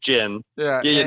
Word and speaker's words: Ginn: I pronounce it Gin. I pronounce it Gin. And I think everyone else pronounced it Ginn.